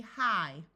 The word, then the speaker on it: high: as a long I most of the time in English words G and H together are silent so IG G here is going to say I so this word will be high fight might s sight